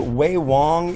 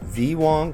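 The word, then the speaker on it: Ve Wong: This is from a company called Wei Wong. You might think, "Oh, this is VW cuz it's spelled V E space W N." These are pronounced as W's.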